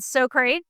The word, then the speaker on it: Socrait: We are here to tell you about a relatively new company called Socrait, rhymes with so great.